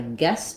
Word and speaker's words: guessed: word um guest I guessed it uh that has the same pronunciation as this guess so the past tense of to guess I guessed it um this Ed says a t sound because when we have